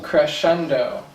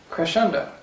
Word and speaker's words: crescendo: r e c crap so uh it's actually pronounced cresendo cresendo so it's what it means is it actually